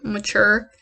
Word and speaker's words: Mature: The word mature is pronounced mature. So when people say mature, I'm like, I get like, it personally bothers me. No offense intended. But the man's name is mature.